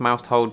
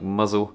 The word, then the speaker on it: Mousehole: It looks like it's pronounced Mousehold, but the locals call it something like Mousehold. I think they're in a little bit of denial there because it definitely reads as Mousehold.